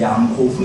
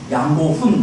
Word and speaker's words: 양고훈: 이름이 양고 훈 있잖아요데 양고 훈 이렇게 발음하기가 쉽지 않습니다 어렸을 때 저희 친구들이 제 이름을 양고운 이렇게 발음하지 않고 양고운 제 저를 놀릴 때 사람들이 뭐 신성일 고은나 뭐 이런 노래를 부고 그랬거든요 어떤 친구들은 그것도 줄여서 양곤 이렇게 불었어요 그 미마의 수도가 어딘지